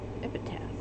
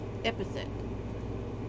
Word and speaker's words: epithet: Epitaph. It is. Epithet.